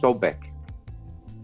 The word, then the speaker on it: Sobek: egypt the crocodile was called right sbk usually pronounced sobek and was worshipped in spain which was a